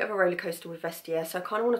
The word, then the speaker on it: Vestiaire: I know in my last video I was pronouncing it wrong, but I believe it's Vestiaire.